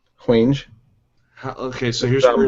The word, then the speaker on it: Hwange: It's Hwang, which sounds Asian. I'm sure it's pronounced different than Hwang. Like Vanjay, and there's clicks and I don't know. It's Hwange. Hwange.